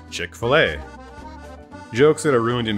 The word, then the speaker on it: Chick-fil-A: had the standard spelling though is pronounced chick-fil-a we also now knew